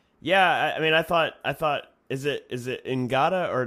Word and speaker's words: Ngata: Is it Ngata or Nada? I don't know if you pronounce the G, but I thought it was Nada, but they were saying Ngata.